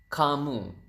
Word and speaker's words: kamu: U is kamu. So ka and moo.